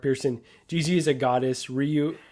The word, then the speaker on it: Ryu: Jeezy is a goddess Ryu is the uh right you is the proper pronunciation there you go Ryu